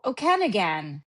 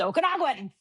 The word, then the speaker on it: Okanagan: But here in Canada, we have really strange words that you're like, "Oh, okenigan." No, it's pronounced okanagan.